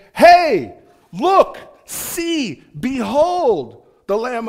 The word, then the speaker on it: He: up as a letter it looks like he but it's actually pronounced hey hey like it hey